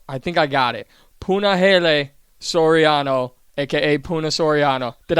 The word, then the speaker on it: Puna: Puna.